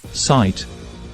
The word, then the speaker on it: sight: of the letter I the i in sight sounds like the name of the letter I and that makes it a long I compare sit with sight